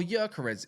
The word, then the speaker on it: Gyökeres: That's our Gyökeres money, or Gyökeres, if you want to call him that, because that's how you say his name.